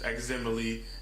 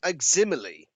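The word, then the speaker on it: Aximili: group members which is eczemaly ex ruthless he is an anderlecht what what did you call him aximily aximily that's something wrong you've pronounced it wrong shakka then again i've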